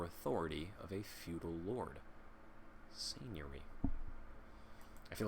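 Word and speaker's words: seignory: It's not Segnori. That's got to be some kind of... We looked at all of the parts and we concluded that this might be how it's pronounced. Hold on. Come on, Merriam-Webster, don't do this. Seigneury. Okay, yeah. That makes a lot of sense to my mind. Seigneury. It is spelled S-E-I-G-N-O-R-Y. Seigneury. It is lordship or dominion, or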